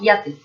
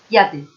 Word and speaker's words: yate: Tendríamos que pronunciar la de la J o Y de otra forma, como si fuese una I, como si fuese IA. Entonces diríamos yate, yate, yate.